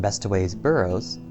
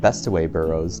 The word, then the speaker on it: Bestways Burrows: Have I been pronouncing that wrong? A whole expansion. Two coal expansions. I've been calling it Bestway Burrows. Not Best Way Burrows. Best Ways Burrow. I just noticed that now.